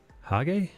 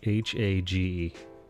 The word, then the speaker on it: Hage: Hello, Hage? Is that how you say that? How do you say Bale, how would you say H-A-G-E?